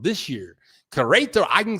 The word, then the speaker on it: Querétaro: Hey, but this year I can say Querétaro. I can say Querétaro this year. Querétaro, I can say it now.